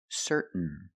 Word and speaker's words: certain: Now let's practice with some words ending in T-A-I-N. Example, certain. Certain. You can say certain or certain, but don't say certain. It's certain. What makes you certain that your husband is involved with someone?